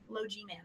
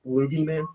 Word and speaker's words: Low G-Man: Low G-Man. Never played it, and I always guess it. Yeah. Okay, so you didn't get Low G-Man. That's 9. It's pronounced Loogie Man.